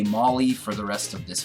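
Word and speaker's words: Mawile: less syllable and it kind of sounds like mauling something you know which was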